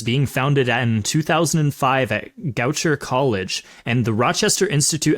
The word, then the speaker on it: Goucher: 2007 c 2009 also apologies in advance for that first college name I probably butchered it Goucher no you said Goucher right as far as I'm we okay cool cool cool cool we got it right then we know about